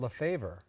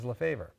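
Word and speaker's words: LeFebvre: budget committee members um Stacy San and Jim lafaver not Lafave we just I just learned today that the actual pronunciation is lafaver correct thank you Jim Stacy how we doing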